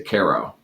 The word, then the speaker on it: Cairo: cairo illinois yeah and you do not say cairo you say cairo and some pronounce scare